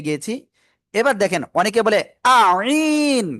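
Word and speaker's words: عين: এই গলার মধ্যখান থেকেও এই অক্ষরটা উচ্চারণ হবে, চার আলিফ টানিয়া উচ্চারণ করতে হবে এটা। আইন, আইন, ঠিক আছে।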